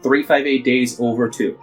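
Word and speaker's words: 358/2 Days: looks like in yes it is officially supposed to be pronounced 358 days over - it's one of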